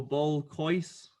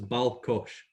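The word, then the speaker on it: ball-coise: So I don't know, ball cois. You're close. So it's balcosh.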